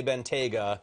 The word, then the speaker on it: Bentayga: Circle I've listened so many Bentley Executives say BGA all right so we got the name and they even say that's because of the TGA region which anyway yeah Bena talk price and then tell me what kind